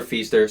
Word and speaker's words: Pfister: Again, Pfister, Silent P coming in, helping me out.